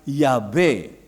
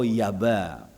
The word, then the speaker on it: Yahweh: Masehi, seorang bapak gereja, melafalkan YHWH sebagai Yahweh atau Yahweh. Itu pelafalan menurut Clement dari Alexandria. Kalau seorang lagi yang bernama Origen seorang bapak gereja juga tahun 253 Masehi melafalkannya sebagai Yahweh. Ya. Tapi seorang lagi yang bernama Theodoret tahun 457 Masehi, ahli transliterasi kitab suci ke dalam bahasa Yunani, berkata masyarakat Samaria melafalkan YHWH dengan Yabe atau Yaba, Yahweh atau Yaba.